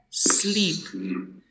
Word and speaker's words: sleep: Ahora, en el idioma inglés, todas las S que tú veas en el inicio de una oración te desinflas. Por lo tanto, se pronuncia sleep. ¿Ok? Sleep. Sleep. Sleep. Exacto. No existe sleep. No, es sleep. Bota aire.